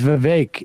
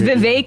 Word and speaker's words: Vivek: I did one decades my name is Vivek it rhymes with cake like honestly I know